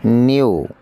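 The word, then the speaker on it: knew: নিউ, জানতাম। নিউ কের উচ্চারণ নেই, এখানে কের উচ্চারণ নেই।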